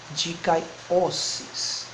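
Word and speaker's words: δικαίωσις: Dikaiossis. Como aqui nós temos o ômega, então é dikaiossis. Dikaiossis. Dikaiossis. Ato de justificar, ou simplesmente justificação. Dikaiossis.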